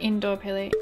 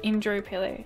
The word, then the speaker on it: Indooroopilly: So not indoor Pili. Indro Pili. Indro Pili. Indro Pili. Because it's typed out like the word is spelled weird.